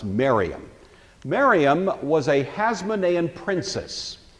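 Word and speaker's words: Mariamne: spelled something like Mar Omni but it's usually pronounced Mariam Mariam was a Hasan princess by all account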